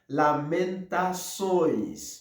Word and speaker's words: lamentações: Alors, son gentil, il écrit L-A-M-E-N-T-A-C-C-D-O accent couché, tio em português, E-S. Il prononce comme ça, lamentações.